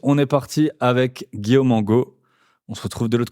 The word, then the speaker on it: Angot: Aujourd'hui, on est avec Guillaume Angot, c'est comme ça que tu prononces? Oui, c'est ça, Angot.